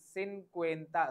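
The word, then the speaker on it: cincuenta: एंड 6 56 the pronounce ation of 50 इज सिन क्वता सी आई एन सी यू ई एन टी ए सिं क्वता सिं क्वता ई says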